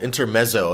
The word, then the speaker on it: Intermezzo: angelo batio has a new album out called inter meso am i pronouncing that correctly yes yeah and there's like